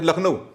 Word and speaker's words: लखनऊ: जैसे लखनऊ, अब लखनऊ जो है हिंदी में लखनऊ बोलते हैं, अंग्रेजी में क्या स्पेलिंग है?